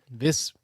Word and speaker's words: Viscounts: Viscounts. Why the S then? The S is silent.